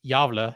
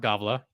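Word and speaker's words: Gävle: hometown of yava Sweden yes that's how you pronounce it it's yava not Gava even though it's home to the yava goat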